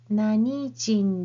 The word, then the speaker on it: 何人: This is the one that's exception. You have to use the pronunciation of Nani with this counter jin. So the correct question sentence is Nani jin desu ka?